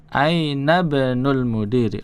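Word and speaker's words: أين ابن المدير: Contoh di bawahnya, ibnul mudarrisi fil fasli ainabnul mudiri itu bacanya ya. Ainabnul mudiri langsung loncat ke huruf bnya.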